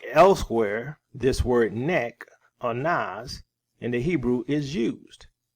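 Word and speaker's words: נס: word nas or his transliterated it looks like Nick but the pronunciation is nas okay so what does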